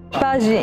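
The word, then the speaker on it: paxi: Pagi in lingua sarda vuol dire pace, viene dal latino pax, in cui mantiene la X ma si legge come la G in francese.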